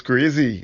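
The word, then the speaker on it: Croisee: look for a street sign beginning with q it's spelled c-r-o-i-s-e-e sounds crazy yeah and where it's located depends on how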